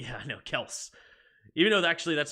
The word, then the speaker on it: Kelce: There's no E on the pronunciation of Kelce. Yeah, I know, Kels. Even though actually that's not true, because they do pronounce it Kelce, so they put that on their show.